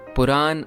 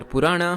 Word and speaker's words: Purana: Puran or Purana, however you want to pronounce it, literally means old or ancient stories.